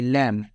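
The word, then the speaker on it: lamb: where is द लैम ये लैम नहीं पढ़ेंगे बी साइलेंट रहेगी लैम तो वेर कहां इस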